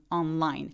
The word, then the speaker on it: online: 강세는 line 해주세요. online.